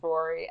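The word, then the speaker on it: Ruairi: we call him patty or rory but it's spelt r-u-a-r-i yeah oh my gosh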